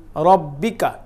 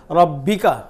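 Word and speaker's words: رَبِّكَ: বিহামদি তারপরে এটা হলো রার উপরে জবর আছে এই জন্য আমরা রাটাকে মোটা করে উচ্চারণ করব আর এখানে একটা তাসদিদ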